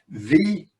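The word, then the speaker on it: Viognier: pronounce that i did practice earlier this afternoon v and you don't pronounce the g and for the red wines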